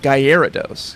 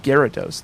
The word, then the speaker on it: Gyarados: Which I think maybe proves that it's pronounced Gyarados, because I think the pun is supposed to be over the air.